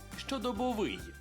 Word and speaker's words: щодобовий: щодобовий щодобовий тож запам'ятайте у слові щодобовий наголошуємо останній склад щодобовий та Ну прикинь я